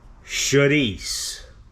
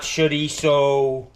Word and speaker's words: chorizo: Gaspar's Chorizo. Chorizo. That's how they tell you how to pronounce it. It's not chorizo, chorizo.